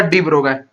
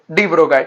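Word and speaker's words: de Broglie: तो इसका mathematical proof आगे चल के तुम्हें देगा डी ब्रोगाय, डी ब्रोगाय, ठीक है। उसको शांत रहो, क्या बोलते हैं, एल और आई साइलेंट होता है, तो डी ब्रोगाय ने दिया था इसका प्रूफ।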